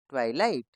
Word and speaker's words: twilight: दोस्तों इसमें GH silent है तो इसको हम कैसे पढ़ेंगे? ट्वाई लाइट, ट्वाइलाइट। Next TWINKLE, twinkle, TWIG, ट्विग, TWITTER, Twitter, TWITCH, इसमें भी दोस्तों टी साइलेंट है, ट्विच, TWIRL, ट्वर्ल।